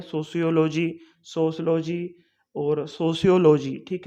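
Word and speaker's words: sociology: जो project means की सोशोलॉजी जो हमारा सब्जेक्ट होता है, इसको हम अलग अलग तरीके से प्रोनाउंस कर देते हैं, सोशियोलॉजी, सोशलॉजी और सोशियोलॉजी।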